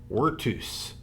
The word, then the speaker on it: virtus: Dignitas and Vs are pronounced Ws in Latin, Virtus. maniless.